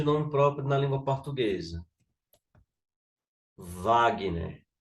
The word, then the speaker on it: Wagner: Wagner né, então aqui O w tá fazendo o som de De que? De v, não é isso?